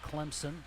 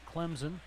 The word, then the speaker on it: Clemson: where out where I'm from you can't say Clemson it's Clemson and you know better than most from where